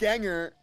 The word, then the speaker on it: Gengar: I think it's Ganger. No, you're No, you don't. It's Ganger. It's Ganger because it's You don't believe that? Because it's based on your doppelganger.